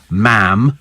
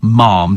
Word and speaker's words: ma'am: moon so thank you ma'am to rhyme with Jam okay not not Mom to rhyme with SM so it's jam and m' okay uh Posh price